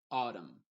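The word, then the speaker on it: autumn: solem sino solem condem por ejemplo dam o autum en ese caso la n está siendo muda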